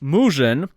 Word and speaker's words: Murzyn: Let's start things off with icon player MURZYN, 82 overall, who in Polish, pronounced MUZZIN, literally means black person.